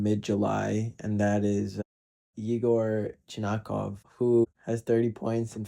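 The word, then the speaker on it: Chernyshov: and that is Igor Chinakov, who has 30 points in 15 games played. I sounded so Russian there, but that's how you say his name, like respect the guy.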